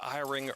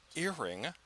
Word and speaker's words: Iring: I said Iring early in the season and I was told it was earring. That's what I've been calling him since.